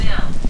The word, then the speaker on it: Bihl: channeling chart energy channeling chart energy peace peace Bill Bill wow like b i l l but